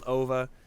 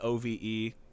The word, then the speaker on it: Ove: They call him Ove in the movie, but it's spelled O-V-E.